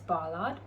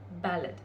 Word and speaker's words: Ballard: in my first video I did pronounce it as Bollard but it's actually pronounced ballad so apologies however today's